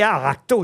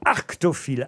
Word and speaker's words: arctophile: J'ai pas dit aracto, j'ai dit arctophile.